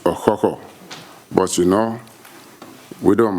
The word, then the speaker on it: Okukor: receive the bronze cochran which actually is rightly pronounced a hoho but you know we